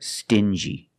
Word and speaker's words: stingy: example dingi and stingi these two words have the regular n Sound n plus the J like juice together stin G together stingy or d g together dingy this wall is very